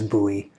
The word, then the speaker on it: Bowie: that i have been wanting to get a buoy blade xm18 and i apologize when i did the review for this i caught throughout the review i called it a bully blade the correct pronunciation is buoy so i apologize for that uh but uh